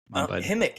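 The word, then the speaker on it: Ximik: name by the way it's x i m i k but so I guess it's pronounced himik he's from Ukraine himik himick himick with the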